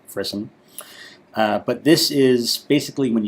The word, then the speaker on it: frisson: I did have to look that word up as to how it's pronounced. It is, in fact, frisson.